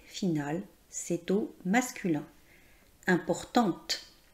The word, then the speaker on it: importante: Importante. On prononce le son T car il y a la lettre E qui est la marque du féminin.